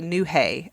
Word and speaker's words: Newhey: It's pronounced like New Hay, and it's a UK site, so it might be something different.